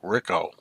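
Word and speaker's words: Ricou: would be ricko Browning ricko looks like Rico but I think he pronounced it Rico Rico Browning who died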